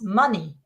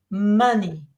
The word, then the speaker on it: money: word we used is money that's also the sound money money uh ready can we